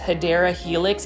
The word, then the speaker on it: Hedera helix: But guys, here is the return of Hedera Helix. As you guys can see, this Hedera Helix, or the correct way to say it is Hedera Helix English Ivy.